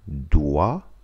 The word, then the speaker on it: doit: Doit, SST не читается.